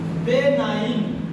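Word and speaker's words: benign: हम रहे लिखो बेनाई बे नाइन सी साइलेंट है ये बेना अब बनाइट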